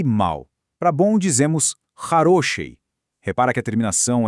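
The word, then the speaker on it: хороший: Para bom, dizemos harosi.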